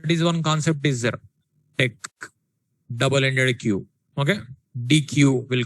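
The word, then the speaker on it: deque: Deck, double-ended queue. Okay, DQ will call, double-ended queue. Actually that is pronunciation deck, double-ended queue, full form.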